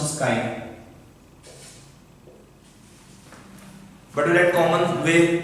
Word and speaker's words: chi: This pronounced is chi, but we write common way X as the symbol of mole fractions, but actual term is chi for symbol of mole fraction.